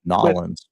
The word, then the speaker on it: New Orleans: When I was there, it was always pronounced Nolans.